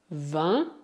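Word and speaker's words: vingt: Para citar apenas os casos mais comuns, o G é mudo nas palavras vin e doigt. Cuidado, o T também é mudo.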